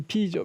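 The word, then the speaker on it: 否: 막히다 하는 뜻으로 쓸 때는 발음이 비입니다. 비.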